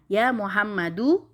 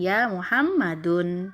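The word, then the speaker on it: يا محمدُ: lemah tanpa dikasih tanwin jadi bacanya Ya mohammadou bukan ya Muhammadun Hai Semoga bisa difahami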